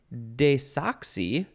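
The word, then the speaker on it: desoxy: oh you can also you can also say desoxi and there's an S between the E and the o desoxi or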